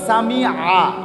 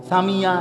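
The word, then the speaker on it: سَمِعَ: শব্দটা হলো সামিআ, আইন, সামি আল্লাহু, আইন। আমনে কোন সামি আল্লাহু লিমান হামিদা, সামিয়া এটা তো ইয়া, তো এটা কি হলো?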